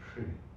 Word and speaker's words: Shri: It needs to be Shri. Yeah. Shri. Yes. Sorry, my pronunciation is not yeah, Shri.